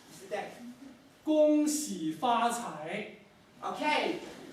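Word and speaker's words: 恭喜发财: So listen very carefully to your pronunciation. Mr. Deng. 恭喜发财。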